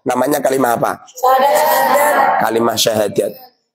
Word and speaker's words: syahadat: Wong Jowo berhubung lidahnya seperti itu, bacanya bukan kalimat syahadat tapi kalimat sodo. Paham? Kalimat sodo. Kalimat sodo itu artinya kalimat syahadat. Sebab lidahnya orang Jawa itu agak gimana gitu.